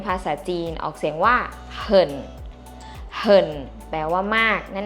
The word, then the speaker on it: 很: ว่า มาก ใน ภาษา จีน ออก เสียง ว่า เหิ่น เห่น แปล ว่า มาก นั่น เอง ค่ะ ที